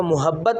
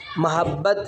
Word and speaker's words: محبت: یہ لفظ جو ہے اس کا تلفظ اکثر جو بچے ہیں وہ اس کو محبت پڑھ دیتے ہیں، میم کے اوپر پیش پڑھتے ہیں، جبکہ اس کا صحیح تلفظ ہے محبت، میم کے اوپر آپ زبر پڑھیں گے۔ انگلش میں ہم آج